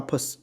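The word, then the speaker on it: ψ: 啊 pus 啊，它发音是发 pus 啊 pus，跟那个 cus 有点像，一个是 cus 一个是 pus 啊，这是 perceive。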